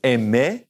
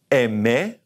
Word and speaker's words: aimer: First of all is aimer, aimer, and espérer, espérer, parler, parler, to speak, remember